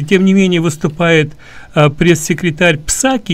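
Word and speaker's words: Psaki: Колоссальный кризис на границе, и тем не менее выступает пресс-секретарь Псаки, или Саки, как ее произносят на английский, по-английски.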